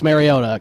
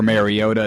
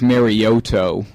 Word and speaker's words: Mariota: watch Chip Kelly now offer a trade for Mariota instead he could he could uh now the Jacksonville Jaguars are on the clock apparently Roger gell called him Marcus maroto Marcus maroto that's nice he'll probably say a